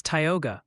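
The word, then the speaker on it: Tioga: It's Tyogga for Tyogga County, New York, and roughly Delana for Delana, Georgia.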